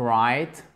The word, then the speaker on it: write: Ça s'écrit avec un W, to write, mais le W ne se prononce pas, ok?